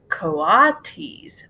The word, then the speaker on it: coatis: pigs or raccoony dogs these are coatis mrs. Brisbane said reading from the letter pronounced CO ah the coatis looks weird